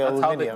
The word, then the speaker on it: aluminium: Yeah, of course they say aluminium. That's how they say it. I don't know where the British pronunciation. That's how British people say it.